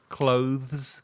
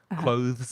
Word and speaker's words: clothes: say it with us clothes you have to put your tongue between your teeth it's a bit tricky clothes cloth and celebrations and